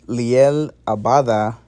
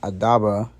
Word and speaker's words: Liel Abada: might be dyslexic but liel abada not adaba liel abada he's all confirmed to